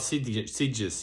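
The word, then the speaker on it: Sitges: Ah about sides. Your pronunciation is correct.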